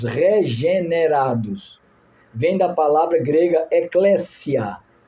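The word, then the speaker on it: ἐκκλησία: Vem da palavra grega ecléssia. Não chame eclésia. A pronúncia errada. Ecléssia.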